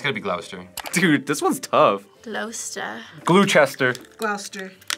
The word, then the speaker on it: Gloucester: Gloucester. It's gonna be Gloucester.